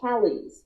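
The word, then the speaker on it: Callis: It's like C-A-L-L-E-Z, Callies. Yeah. That's what it sounds like, but it's C-A-L-L-I-S. Callies. Okay, great. I don't know why I had an I in here, like C-A-L-L-I-E-S.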